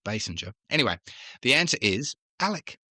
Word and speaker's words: Basinger: Now, we always used to say King Basinger in Australia, but I've noticed it is only spelled with only one S, I think, so it's Basinger.